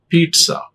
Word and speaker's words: pizza: There is no any Z sound. Zip, that is Z. But here, the sound is Sa. But the spelling is different and the pronunciation is different. Pizza. Pizza. Be careful when you pronounce that.